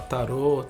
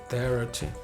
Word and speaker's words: tarot: Você pode falar tarô, tarot, tarô. Depende da sua pronúncia, não tem problema nenhum. Eu gosto de colocar o T mudo no final porque dá essa noção de espaçamento de começo, meio e fim.